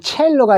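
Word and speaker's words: cello: C자가 요거 치읓 소리도 납니다. 그래서 첼로가 이탈리아어에서 나온 말이기 때문에 C자를 치읓으로 읽어주는 경우도 있다는 걸 알아두시고 많이는 없습니다.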